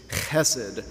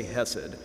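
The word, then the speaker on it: חסד: Hebrew is the word hesid if you want to pronounce it really accurately you would do a gargling sound in your throat when you when you say the H it's hessed but I'll spare you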